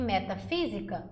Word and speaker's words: metafísica: África e metafísica, o fi e o a são as sílabas mais fortes.